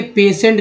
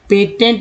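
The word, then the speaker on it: patient: अब देखिए पेशेंट का स्पेलिंग देखिए, पेशेंट। अब भाई पेशेंट में अगर दिमाग जिनका नहीं चल रहा है या जो नहीं जानते हैं तो कहेंगे टी से तो ट होता है, तो यहाँ पे तो टी ही है, तो पेशेंट क्यों बोल रहे हैं? पेशेंट बताइए, पेशेंट क्यों बोलेंगे? पेटेंट बोल देंगे, जबकि पेटेंट का स्पेलिंग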